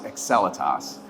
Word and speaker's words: Excelitas: trying to figure it out so the correct pronunciation is excelitas so in February of last year fion was